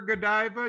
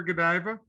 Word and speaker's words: Godiva: did you work for godiva did you do requirements analysis for godiva yes uh well a little bit no i'm still pronouncing it wrong right you go it's go diva yeah i learned that